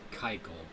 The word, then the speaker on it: Keuchel: I discovered his name is pronounced Keuchel. I need to stop butchering names. Dallas Keuchel.